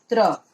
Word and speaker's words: त्र: त्र यानी पहले आता है त हलंत प्लस र।